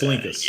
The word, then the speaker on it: Linkous: It's Linkous.